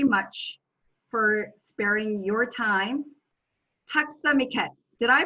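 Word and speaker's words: tack så mycket: thank you very much for sparing your time takstamiket did i pronounce that right you did it very well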